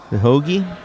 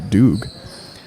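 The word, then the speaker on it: Dhooge: Just looking at the name, I'd say maybe Doog. Nope, it ain't that.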